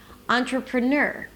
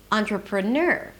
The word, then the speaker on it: entrepreneur: So actually the music is something like ta-da-da-da, ta-da-da-da, entrepreneur, entrepreneur.